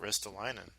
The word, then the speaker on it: Ristolainen: Like, Ristolainen in Buffalo's still not signed. Yeah. That depletes Buffalo's blue line big time without Ristolainen.